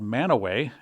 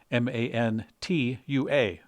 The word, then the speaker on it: Mantua: There's also a place called Mantua, and they spell that M-A-N-T-U-A. So it looks like Mantua, but they say Mantua.